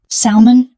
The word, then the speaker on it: salmon: The L is silent. Salmon.